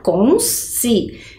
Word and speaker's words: consciência: como fica consciência certo agora percebam que diferente da pronúncia que eu faço né então o s acompanhou ali a primeira sílaba e o si ficou separado já na palavra discriminação ao falar ao pronunciar ao contar o número de vezes que eu abri a minha boca vai ser exatamente do mesmo jeitinho que eu vou separar a sílaba perceba diz opa pulei